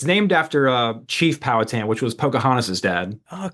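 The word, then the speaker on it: Powhatan: you're from Virginia originally how' you pronounce the tamy from is it Paul hatan you pronounce it like everybody else does that's so great it's called power tan power tan right oh cool yeah that sounds a lot better yeah yeah it's named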